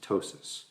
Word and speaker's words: ptosis: and that is called ptosis you don't pronounce the P just ptosis okay so looking at